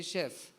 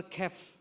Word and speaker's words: chef: are not pronounced so you write c h e f you say chef but you the people will say is chef or kef because they they have also written character or they have learned something